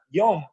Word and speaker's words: yom: En el idioma hebreo se pronuncia yom, que significa día.